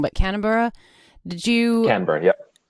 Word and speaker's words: Canberra: So when you moved to, I'm going to say it wrong, but Canberra, Canberra, yep. Canberra.